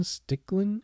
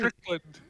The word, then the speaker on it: Strickland: is my man's name Shane stickland is this is did I say it right Strickland Strickland Strickland okay um shout out